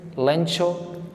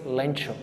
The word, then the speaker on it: Lencho: this story a farmer his name is lin chu CH different pronunciations lencho then lan shop Lancome but the actual pronunciation in the story is lencho and before starting the